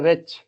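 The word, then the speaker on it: wretch: होना नेक्स्ट शब्द हमारा रच डब्लू से डब् साइलेंट रता से पहले डब्लू आर ई टी सी एच रच मनहूस मनहूस जिससे हम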